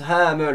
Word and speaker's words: Hamel: Ça se prononce Hamel en fait.